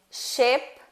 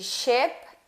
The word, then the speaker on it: ship: Por exemplo, ship, sheep. Eu trouxe aqui esse sonzinho do I. Se você não pronunciá-lo corretamente, você pode estar pronunciando outra coisa, né? Pode ser mal interpretado por causa disso. Qual que é a diferença entre ship e sheep? Apenas um som, né?